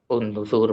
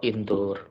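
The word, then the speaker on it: انظر: Jika kita mulai membaca dari gambahnya itu kita bisa tahu, oh ini bacanya itu unzur bukan anzur atau indur.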